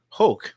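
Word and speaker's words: Hoch: Nick falo and Scott Hulk rhymes with choke Scot H because I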